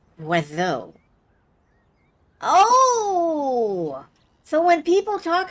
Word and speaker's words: oiseau: It's pronounced Oiseau.